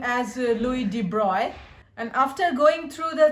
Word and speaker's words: Louis de Broglie: Some people utter his name as Louis de Broglie. He was a duke, and I pronounce his name as Louis de Broglie.